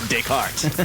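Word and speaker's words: Descartes: It's Decart, which is spelled like it's not spelled like a sound.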